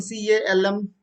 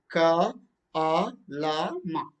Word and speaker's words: calm: So for example, CALM, calm, but you don't know that it is L is silent, then you simply say that calm. Then use right ka a la ma. That's wrong.